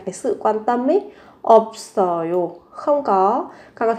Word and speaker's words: 없어요: 관심 없어요. 관심 없어요. 관심 없어요. Tôi chẳng quan tâm đâu. Các bạn về cách phát âm thì các bạn sẽ phát âm là 없 và 써요.